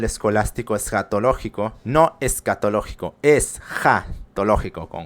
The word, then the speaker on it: escatológico: Porque el pensamiento escolástico, y sobre todo el escolástico escatológico, no escatológico, es jatológico con J. Así les cueste más trabajo, se pronuncia así, y así suena un tanto extraño.